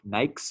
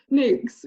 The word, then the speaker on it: NAICS: you pronounce it because i've always called it like nike's code or something i'm not gonna sound dumb anymore i had to learn it because i didn't know nyx yes um but next